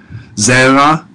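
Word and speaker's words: זרע: Zera, notice the emphasis on the first syllable there, that's a segalet.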